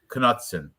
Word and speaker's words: Knutson: Knutson? Or is that K silent? No, I think you pronounced the K. Somebody said that they heard the commentators. But you know what? I heard this though. I swear I heard that you pronounced it. Yeah, I'm gonna pronounce it. I've heard it pronounced. That's why I'm saying the K too.